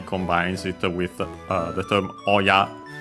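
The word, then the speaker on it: 親: For example, hahaoya, which literally combines it with the term oya on its own, accent on the last syllable.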